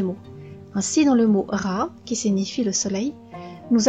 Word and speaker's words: Ra: Mais attention, le symbole du soleil placé au début du mot se prononce Ra et signifie le soleil.